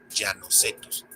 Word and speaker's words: Llanocetus: Ahí se pronuncia como en español, Llanocetus, y es que la raíz llano no está en latín, sino en, agárrense de su asiento, español.